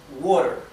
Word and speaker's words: water: La palabra water. ¿Bien? La T, que está entre medio de dos vocales, se pronuncia casi como una R del español.